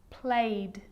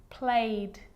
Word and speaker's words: played: it's its own syllable but a lot of the time that e isn't pronounced looked asked played baked wrapped now they could be